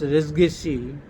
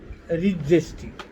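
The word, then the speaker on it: res gestae: They normally be used to pronounce resgesi, but recently, not recently, it is also being pronounced as regesti, regesti, regesti.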